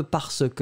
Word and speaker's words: parce que: Yeah, go for the parce que if you really want to do that for the professional reasons or in a formal context. Parce que, you pronounce the r somewhere, quand même.